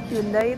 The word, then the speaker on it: Hyundai: Jadi kalau Hyundai itu di Korea bacanya Hyundai.